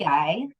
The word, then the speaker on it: ikigai: Yeah, because the true how did you pronounce it? Ikigai. Ikigai.